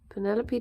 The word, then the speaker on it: Penelope: Penelope to rhyme with antelope.